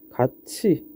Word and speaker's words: 같이: 자, 여기서 다시 예시를 한번 보면 자, 같이 아니면 굳이 같은 거를 우리 발음하면 같이 그리고 굳이 이렇게 발음이 바뀌게 되죠. 자, 여기서 뭐가 바뀌었냐라고 하면 여기 있는 디귿과 여기 있는 티귿이 뭘로? 치. 그리고 지으로 바뀌게 됩니다.